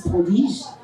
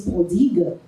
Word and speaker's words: prodigue: va toujours parler euh déjà on prononce mal, on dit le fils prodige." C'est pas le fils prodige, c'est le fils prodigue.